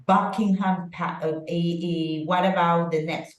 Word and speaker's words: Buckingham: hear it Buckingham Palace okay so Helen in Buckingham which one is the syllable that has the stress but correct Buckingham AE what about the next one correct it's